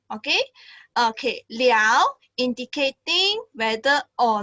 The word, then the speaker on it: 了: you have another context let's invite teacher Wong to explain about this L okay hi okay so this word L have two pronunciation one is L and in another one is le le okay so L can be